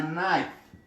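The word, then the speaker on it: knife: کله چې په ابتدا د کلمې کې کې ان راشي دلته کې نه تلفظ کېږي. مثلا که زه تاسو ته یو شی مثلا یا نایف نایف، دلته په ابتدا د کلمې کې کې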